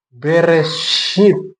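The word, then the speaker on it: בראשית: Dibacanya Bereshit.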